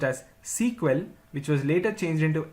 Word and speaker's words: SQL: initially the language was known as Structured English query language pronounced as sequel which was later changed into SQL in the year 1978.